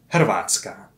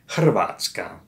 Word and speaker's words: Hrvatska: For one, Vulgar Latins didn't really pronounce the H. And then we had a cluster of three consonants in a row, Hrvatska.